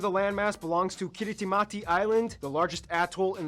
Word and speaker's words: Kiritimati: things by the way kiritimati is the native way of pronouncing Christmas so yes this place